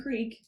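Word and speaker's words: Krek: Her name is Creek, but I didn't know if people would understand that. Anyway, K R E K rhymes with freak.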